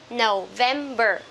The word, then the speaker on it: November: Okay, remember from from September to December, we will stress at the second syllable. Okay, so September, October. This one, November.